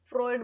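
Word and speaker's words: Freud: फ्रॉइड, उनकी जो pronunciation है, कुछ लोग फ्रूट बोलते हैं, कुछ फ्रॉइड बोलते हैं, पता नहीं अलग अलग प्रोनाउंसिएशन है।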